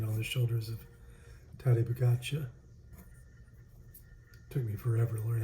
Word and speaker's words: Pogačar: yellow jersey being on the shoulders of Tadej Pogačar. Took me forever to learn how to say his name. Because it looks like Podokar.